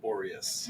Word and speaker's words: Borias: Boreas.